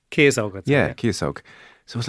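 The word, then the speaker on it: Ciosóg: his name, so let's use, I think I mispronounced it, Ciasóg? Ciasóg.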